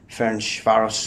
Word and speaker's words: Ferencváros: We're here with Ferencvaros, hope I pronounced that correctly, Ferencvaros, yeah.